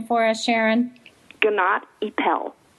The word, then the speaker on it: Gnatt Epel: the sharon are you there will you please pronounce i am good morning your last name for us sharon ganat ippel gennady powell okay sounds very exotic i know and sharon